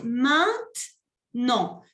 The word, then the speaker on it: maintenant: Y se dice maintenant. No se pronuncia la primera E.